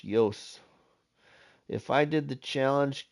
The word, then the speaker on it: Jos: and modhub the Creator's name is spelled Jos pronounced Yos if I did the